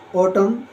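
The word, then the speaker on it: autumn: बोलते हैं ए यू टी यू एम एन ओटम यानी पतझड़ नेक्स्ट है कंडेम यानी निंदा करना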